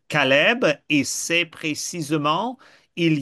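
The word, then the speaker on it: כלב: lien se fait, que le chien en hébreu, ça se prononce Caleb, et c'est précisément, il y a celui qui est un assistant de Moïse et de Josué.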